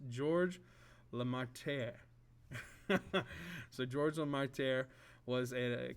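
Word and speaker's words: Georges Lemaître: very much so it's hard for me to pronounce this but it's george la marte so george lamarter was a catholic priest in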